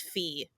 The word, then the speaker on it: Phi: because from Delta D Phi Epsilon and with that difference I have had people say defeat because the Greek letter Phi is actually pronounced fee in other places of the world um so defeat Epsilon